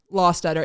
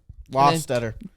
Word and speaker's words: Lostutter: life it is pronounced law stutter it's like pronouncing like saying the word law like this is the law and then stutter law stutter make it together and